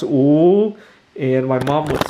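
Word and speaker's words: 五: more minutes in Chinese the number five is pronounced ooh and my mom would say come on get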